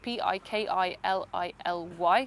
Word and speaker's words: Piccalilli: So in this case, it's Pikilly, because it's Swahili.